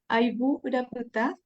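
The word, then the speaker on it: Ayvu: a obra aiv não é Analia gostaria de pronunciar porque é do Guarani né do leão sim é aibu Uhum que é conhecido também como a terra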